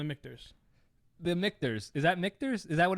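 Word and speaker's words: Michter's: Is that Mictors? Is that what it's called? How it's pronounced? Yeah, it's called Mictors. They do rye and regular bourbon. This is the Mictors American.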